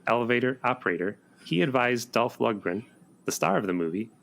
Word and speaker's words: Lundgren: Because Cody was an actual elevator operator, he advised Dolph Lundgren, the star of the movie, on how to play an elevator operator in this movie about a runaway elevator.